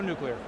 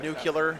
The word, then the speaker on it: nuclear: we're just hoping to go nuclear uh it's pronounced nuclear Seth Thank you very very